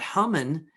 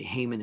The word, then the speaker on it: Haman: that uh is that human uh as his name is pronounced sometimes people say haman in english that human who is